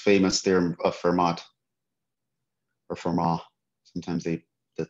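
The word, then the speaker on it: Fermat: when you when a lot of people hear vermont's theorem that's what they think about because that's the that's the most famous theorem of vermont or for ma sometimes they the t is silent okay we're going to do a different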